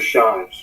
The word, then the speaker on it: Shives: Officer Shives. Shives? Yes, sir. How you spell it?